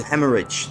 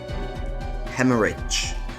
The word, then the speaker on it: hemorrhage: to pronounce these words I don't want to butcher them hmer have begun to Hemorrhage then that's how you say it Hemorrhage okay duly noted there are glass fragments lodged